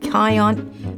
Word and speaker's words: cayenne: I use like turmeric and peppers, not staining, but turmeric and cayenne, or how do you say that?